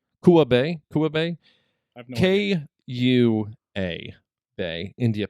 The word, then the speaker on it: Kua Bay: hawaii uh uh a i think i'm pronouncing this correctly it's bae kua bay kua bay k-u-a bay